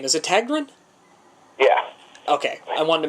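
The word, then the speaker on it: Tägtgren: do you say your last name is a tagrun yeah okay i wanted to make sure i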